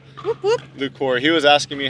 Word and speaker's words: Lucore: my name I'm Alex Hamner and I'm lucor who lukor he was asking me how to pronounce it Lor nothing fancy Lor awesome no